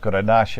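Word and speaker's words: garnacha: yeah and it's the second either tempranillo or grenache in spain they're one and two yeah they're like it's either the first or the second most grown grape in all of spain and uh it's pronounced granasha in spain but it's the same grape and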